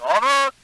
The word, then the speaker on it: honored: Was the H there, or was it had already been dropped in pronunciation? Let me hear. I feel greatly honored. Yeah, the H has already disappeared in this word.